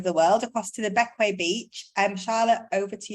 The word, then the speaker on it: Bequia: do you pronounce it it's not the queer it's beckway just confusingly um the second